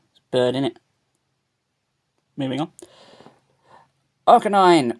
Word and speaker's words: Arcanine: Arcanine, or Arcanini as I may pronounce it, just to annoy people.